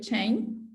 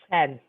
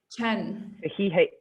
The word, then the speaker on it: Chen: But and she works with Chain. Oh, sorry, that's not how you say it, is it? Sorry. How do you say it? Chen. Chen. So yeah, as a like CHEN. Chen. Great.